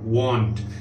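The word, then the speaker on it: want: वॉन्ट, देखिए mouth जो lips हैं वो घूमते हैं, राउंड होते हैं. आई वॉन्ट टू, वांट नहीं, आई वॉन्ट टू वॉक.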